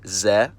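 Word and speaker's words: З: It's called ze, and it takes the sound of the English letter z.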